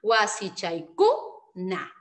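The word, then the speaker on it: wasichakuna: Si agrego el kuna y el chachi, acá hay dos sílabas más, ¿ya? Ah, entonces cuando hagamos nuestro sílabeo y la mayor fuerza de voz tendría que recaer en ku, ¿ya?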